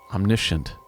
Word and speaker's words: omniscient: I always liked the idea as well that I didn't know when I was writing the record that it's pronounced omniscient.